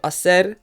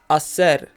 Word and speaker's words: hacer: to conjugate the verb Acer in the present tense first of all remember that the H is silent Asser in the present tense